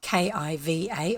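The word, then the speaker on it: Caoimhe: I might spell it k-i-v-a or k-e-e-v-a c-a-i-o-m-h-e is the actual Irish spelling of the name Kiva and I shall leave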